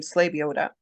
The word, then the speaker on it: Slebioda: that yes so when you say my name slave Yoda it's a lot of people have difficulty when they see it and pronouncing it and to be honest there's like